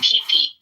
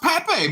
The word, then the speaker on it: Pape: joy of calling it pee I think there's something there oh it's pronounced Pape my bad Dr pape I don't